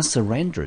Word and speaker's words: surrender: r 的音，念成 ran。最后音节 d e r 我们念成 der，中音节落在第二个音节，这个字我们念成 surrender。Surrender，那 surrender 这个动词呢，它是个动词，本身可以当作及物，也可以当作不及物，我们中文翻成所谓的投降或者是放弃。来，我们看看英文解释 To give up or to give in to the power especially of an enemy。